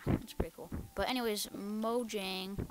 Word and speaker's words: Mojang: pretty cool but anyways mo jang or mo yang i'm pretty sure that's how you pronounce in sweden but they they got